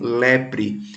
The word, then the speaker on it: leprae: o lembra das nomenclaturas essa nomenclatura que quando tem o ar e o hediondo a semana taxonomia é que a gente pronuncia só ué então é a bactéria mycobacterium lebre essa doença também chamada